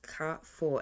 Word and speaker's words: Carrefour: So, before I started this audit, I went on Google to find out how to pronounce this accurately, and it's pronounced Carrefour, and it's a famous supermarket in France.